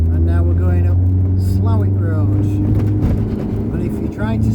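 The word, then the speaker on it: Slaithwaite: now we're going up slalwick and if you're trying to spell that the posh pronunciation is slothwaite but i would say around here it's slow it should be out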